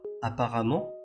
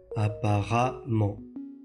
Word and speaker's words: apparemment: 次に紹介する言葉は apparemment という副詞です。